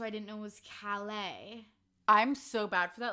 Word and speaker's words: Calais: So I didn't know it was Calais.